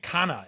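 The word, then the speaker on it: Kanna: One thing we hadn't mentioned, Zembrin is, I'm not, the pronunciation, Kana.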